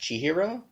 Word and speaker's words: Chihiro: from from your best friend Rumi uh-huh and she hero is our main character yeah I I don't want to correct you because the film does this - mm-hmm I'm pretty sure that name should be pronounced Chihiro Chihiro but everyone in the movie says she